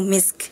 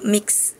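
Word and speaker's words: مسك: khitamuhu misk harusnya sin dulu baru kaf. Nah, tadi Azril bacanya mix jadi kaf dulu baru sin tadi harusnya sin dulu baru kaf gitu.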